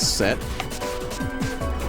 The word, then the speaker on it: Seth: It's pronounced as set.